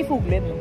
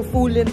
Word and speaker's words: Fuglen: Ewan ko kung tama yung pronunciation namin. So so far good siya. Happy and super parang hindi fuglin. Fugl fulen ewan ko. So search natin kung paano siya basahin. So foolent siya. Fulen hindi pala fuglin pilipinong pilipino fuglenin.